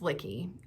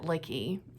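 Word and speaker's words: Lykke: about 15-20 minutes folks turns out it's lickey and it's swedish danish i don't know i'm just making this up it's in another language i don't even remember what the word means but i did look it up i swear you pronounce it licky and like i giggled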